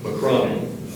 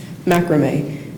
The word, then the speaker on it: macrame: Are there any other alternate pronunciations? Yes, there's one. Macrame. Macrame.